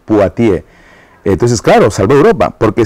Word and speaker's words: Poitiers: la batalla de bueno en castellano se dice poitiers en buen francés paati entonces claro salvó Europa